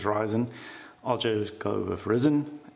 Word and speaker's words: Ryzen: some guy say it's risen Sometimes some guy says ryzen I'll just go with